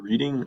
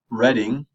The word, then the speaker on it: Reading: Reading, Pennsylvania is the town. You pronounce it Reading. It's kind of weird. Reading passes an aggressive dog ordinance to regulate ownership of certain pet breeds, including pit bulls.